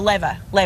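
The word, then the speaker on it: Leyva: producers just informed me it's Daniel Le Daniel Leva Lea that's how you say his name that's that's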